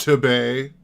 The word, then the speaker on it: Tabe: It's pronounced Tebay. Just so everybody knows. We're not talking about the toilet alternative to Bidet.